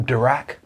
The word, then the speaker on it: Dirac: erwin schrodinger oh that was paul dirac you know who's known for having a bad back which is convenient because it rhymes correct who won the